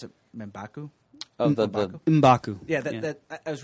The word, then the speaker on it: M'Baku: And I understand that I pronounce it M'Baku.